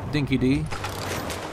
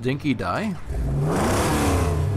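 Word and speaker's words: dinky-di: referring to as a dinky D apparently in Australia it's actually pronounced dinky die but you know that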